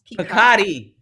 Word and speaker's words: Picotti: How is it? It's Picotti. Okay, is it Italian? It's French. French.